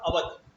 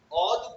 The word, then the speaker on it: Oudh: देखिए बैंक का नाम तो था अवध, अवध कॉमर्शियल बैंक, लेकिन जो ब्रिटिशर्स है ना, उनका जो प्रोनाउंसिएशन था वो अवध को ऑल, ऑल, OUDH।